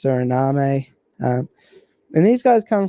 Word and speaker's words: Suriname: Guyana - well it's it's spelt like surname but I think it's Suriname a and these guys